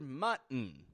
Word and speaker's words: mutton: done these things will have no trouble pronouncing the word mutton or recognizing the glal te therein mut let's do a